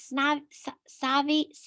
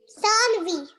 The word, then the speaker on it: Sanvi: Is it Savi? Say it how to say it, girl. Sanvi. Sanvi, yeah.